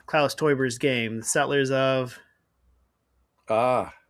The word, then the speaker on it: Teuber: So, how do you pronounce Klaus Teuber's game, The Settlers of?